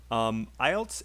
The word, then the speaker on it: IELTS: It's a little bit hard to know how to say it, but IELTS and quit. So just listen and say with me really fast. I've just quit. I just quit Better. Nice. Studying IELTS.